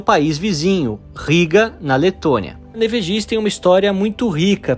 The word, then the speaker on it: Panevėžys: Panevėžys, e essa é a pronúncia correta, escutando os locais falar, é uma